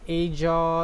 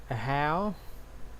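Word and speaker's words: Ajaw: It's not Aja, it's not Aha, it's Ahau.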